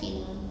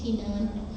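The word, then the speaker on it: 河南: in هنان province بقول لك في منطقة اسمها مقاطعة خنان مش هنان وين in China في الصين.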